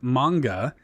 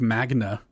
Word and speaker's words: manga: Which is pretty funny cuz I think Mitch at one point said like Magna or something like that.